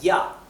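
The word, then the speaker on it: ja: del español mientras que la J del alemán se pronuncia como la i latina del español verdad un ejemplo es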